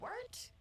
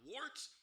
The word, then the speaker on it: Wort: The wort? Yeah, okay, I'll do that again. This is The Wort on Govs Radio. It is the Wort. Not wart, not fort, not short.